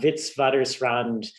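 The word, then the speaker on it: Witwatersrand: word to pronounce uh vitsvadersrand right it's afrikaans which is sort of old dutch but the w's are v's in afrikaans um no offense taken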